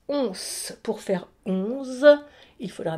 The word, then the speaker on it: onze: Regardez bien, c'est un N et un E. Donc, le S se prononce S. Once.